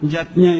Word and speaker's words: yajna: Panca artinya 5, yatnya itu artinya 5 macam selamatan. Yatnya tulisannya yajna ayah bunda, tapi membacanya yatnya.